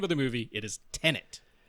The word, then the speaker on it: Tenet: Yeah, it is not Tenant. It is Tenet.